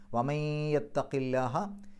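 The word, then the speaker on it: ومن يتق الله: വമയ്യത്തഖി, യാഇൻ്റെ മുമ്പ് സുക്കൂനുള്ള നൂന് വന്നു, ആ സുക്കൂനുള്ള നൂനിനെ യായിലേക്ക് ലയിപ്പിക്കുക, മണിക്കുക. ഇദ്ഗാം ബിഗുന്ന. വമയ്യത്തഖില്ലാഹ, യത്തഖില്ലാഹ, അള്ളാഹു എന്നുള്ള പദത്തിൻ്റെ മുമ്പ് കസ്റുള്ള അക്ഷരം വന്നാൽ ലാഹ എന്നുള്ള ഉച്ചാരണം കിട്ടും. യത്തഖില്ലാഹ എന്ന് പറയില്ല, യത്തഖില്ലാഹ.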